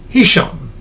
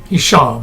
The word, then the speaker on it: Hisham: And uh the caiff hisham, hisham, I guess it's pronounced, the accent on the last syllable, set the policy which